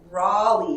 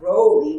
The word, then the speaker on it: Rollie: close to my name it's raleigh with a short o not rowley with a long o roly-poly roly-poly wait rawling